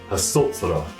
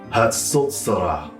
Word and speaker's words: Hatsotsrah: It's called the Hatsotsrah. Let me go through that again. Hatsotsrah. So how do we spell it?